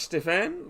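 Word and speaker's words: Stephan: new batsman is Josh Stefan, the person I was just talking about. Spelt S-T-E-P-H-A-N, but it's pronounced with the F instead of the PH.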